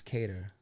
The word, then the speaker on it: Cater: I say it wrong on the story, CATER.